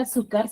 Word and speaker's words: azúcar: tilda en la digo la palabra azúcar se tilda en la sílaba su Por qué se da